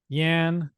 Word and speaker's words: Yan: Yan rhymes with Stan.